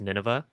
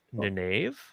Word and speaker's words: Nynaeve: If you're me as a teenager reading the books, it's Nineveh. But Okay. if you're anyone else, it's Nynaeve.